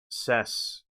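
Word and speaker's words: Sasq'ets: Sasquatch is Anglicized version of Sasquest, pronounced Saskeuts, which comes from the Halk language spoken by the Sists people of British Columbia.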